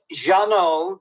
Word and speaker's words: Jeannot: Oh, it's Jeannot, Jeannot, Swark, Szwarc.